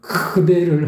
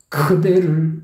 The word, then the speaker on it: 그대를: 바라볼 수 있는 것만으로도이 가사 내용상으로 보더라도 뭔가 크대를 하면서 뭔가 뭐라고 해야 되나 약간 별은 벼르는거다 뭔가 이렇게 안갚음을 해야 되겠다라는 느낌을 줄 수 있다고 해야 되나요 그대를 이건 좀 그래서 너무 과도하게 그 발음을 했다